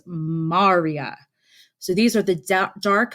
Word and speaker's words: maria: name but is not spelled or it's not pronounced Maria it is pronounced Marya so these are the dark flat areas and